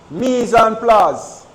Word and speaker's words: mise en place: The proper pronunciation is mise en place. Mise en place.